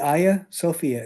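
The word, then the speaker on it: Hagia Sophia: So, this is the Aya Sophia. It's spelled Haga, but it's pronounced Ya.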